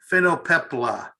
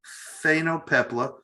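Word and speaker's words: phainopepla: i've been practicing pronouncing it all day long it's spelled p h a n p-h-a-i-n-o-p-e-p-l-a phenopepla phenopepla this is from carl bernhardt he took it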